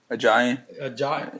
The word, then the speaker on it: Ajayi: How do you pronounce his name? Ajayi.